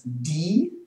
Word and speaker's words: die: Die, it's a long E.